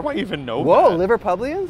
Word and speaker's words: Liverpudlians: I watch like ads specifically built for Liverpudlians. Yes. Is that how you say it? Yeah. How do I even know Whoa, that? Whoa, Liverpudlians? Liverpudlians, right?